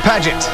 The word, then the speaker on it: Paget: Paget. It's pronounced paget.